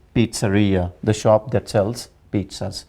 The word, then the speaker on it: pizzeria: maybe coming from Latin where Z this z sound is changed into pizza so it is pizza and and it is not Pia it is Pizzeria the shop that sells